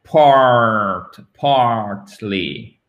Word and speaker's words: partly: Faut bien qu'on entende le R, partly, OK? Parce qu'en British English, ça sera partly. On entend à peine le R. Partly. Talk like this. Partly. American English, c'est beaucoup plus prononcé.